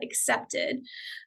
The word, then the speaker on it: Acceptd: application portal, which is a separate site called Accepted, which is spelled ACCEPTD.